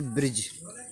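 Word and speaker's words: bridge: तो हमने कहा था जी से पहला आया हुआ डी हमेशा साइलेंट रहेगा।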